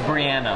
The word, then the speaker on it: Brianna: And her name is pronounced Brianna.